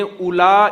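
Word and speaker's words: أولي: होगा कराने माजिद में उला एक का जो लब्ज है उली का हमजा के बाद भाव होता है लिखा जाता है पढ़ा नहीं जाता है किसी ने कहा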